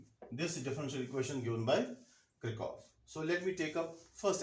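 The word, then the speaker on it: Kirchhoff: Now, let me begin with Krikov's law. Or some may pronounce it as Krichov's law.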